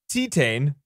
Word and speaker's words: Titane: see them so this is tetane is how i saw some youtube people talk about it i thought it was titanium titanium right but it's french so this is a